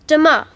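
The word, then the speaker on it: demain: say tomorrow in french um it's dima sorry can you say that again please yes it's de ma how do you spell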